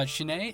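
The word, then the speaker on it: SHINee: it from a shiny uh shinai is how you pronounce it shiny yeah them and and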